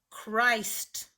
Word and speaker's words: Christ: the name / ice-t-- nothing is giving power to the I to say I you just have to remember that this one is not the standard rule Christ and one last word